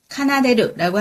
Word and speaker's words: 奏でる: 그래서 연주할 수 있는이기 때문에 엔소데키루가 된 거고요.楽器가 악기, 발음 비슷합니다.楽器와 아리마스까, 있습니까가 됩니다. 엔소스루는 한자어이고요. 순수한 일본어도 있습니다. 어떻게 될까요? 奏でる. 카나데르라고 하는데 얘는 한자어지만 우리도 연주하다를 많이 쓰기 때문에 엔소스를 더 많이 쓰고요.